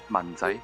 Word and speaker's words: 文仔: And Yeah, Manchai is just 文仔, 文仔.